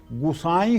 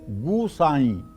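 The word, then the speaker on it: गुसाईं: की एक चौपाई में गुसाई शब्द है गुसाई इसको गुसाई ना बनाएं गोसाई ना बनाएं हनुमान चालीसा में हर शब्द जैसे है जैसे लिखा है इनका उच्चारण वैसे ही करना चाहिए अगर आप अपनी बुद्धि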